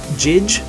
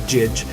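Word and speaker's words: Jydge: They made a game about time travel, and they made Neon Chrome, and they made Jidge. I think it's pronounced Judge, but it looks like Jidge.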